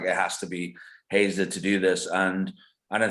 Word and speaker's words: Heiser: Yeah, you pronounce it Hazer. But Hazer. a lot, All right. yeah. Don't worry, a lot of people, some people have actually pronounced it like that.